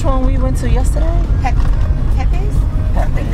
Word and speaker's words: Pepe's: Yeah, Pipis is right over there. Oh. Pepe's, that's Pepe's. Yeah, we pronounce it Pepe's. Pepe's? And it's spelled P-E-P-E-S.